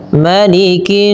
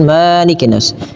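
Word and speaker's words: مَلِكِ النَّاسِ: Kemudian ayat kedua, malikinas. Tahan lagi pendekkan jangan malikinas. Kesalahan yang sering terjadi melafalkan ini adalah memanjangkannya sebagaimana pada lafal surah al-Fatihah. Padahal dia pendek.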